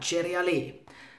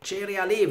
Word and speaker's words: CereAlé: hieß es dann ja, Cereale. Ja, weil ich war hier stutzig geworden durch diesen Apostroph, dachte ich so, ja, kann das Cereal heißen? Also Cereale wird es in Italien ausgesprochen, ich weiß nicht, wie wir es hier aussprechen.